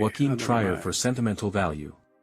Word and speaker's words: Trier: Trier for sentimental value. European cinematographer. Oh, it's Trier. I've been saying Trier.